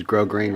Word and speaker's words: grosgrain: I had a knitting pattern that said use grosgrain ribbon. Yeah, and on the vest. I think it's a French word, and you don't always pronounce all those consonants.